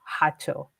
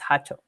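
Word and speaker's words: jacho: So, he lit his hato and for those of you unaware, it's spelled J A C H O. Hacho. The J is an H sound in Spanish. So, it's Hacho.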